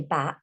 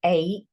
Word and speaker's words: ache: So that does not say back, that says ache. And then you have the silent E on the end that you can't hear.